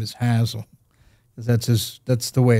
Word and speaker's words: Hasil Adkins: in Madison, West Virginia, you don't call him Hasil. His name is Hasil. That's the way it's pronounced there.